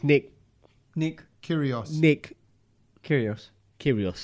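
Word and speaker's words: Kyrgios: Nick curios Nick curios curios don't let me get curious know how to say his name right there's a cheeky G in there that's why yeah yeah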